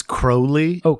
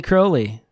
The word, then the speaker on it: Crowley: post real quick that his name is crowley it rhymes with holy holy crowley it isn't crowley that rhymes with uh fowley that was a gift